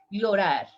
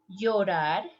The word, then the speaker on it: llorar: Next one here, the verb cry, llorar. Listen the pronunciation. Llorar, llorar, llorar.